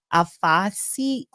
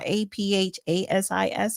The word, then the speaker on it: aphasia: And she's been diagnosed with frontal dementia and aphasia. I'm saying it wrong. APHASIS, I believe, but it's frontal temporal dementia.